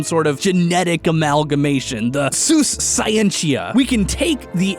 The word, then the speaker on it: Sus: genus sus and although as much fun as it is to say that pig is sus i think it's actually pronounced seuss although if i were